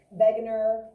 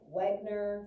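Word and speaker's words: Wegener: that awkward banger and you hear his name pronounced a little bit different um it was german um begginer wegner you'll hear a couple different ways um i just call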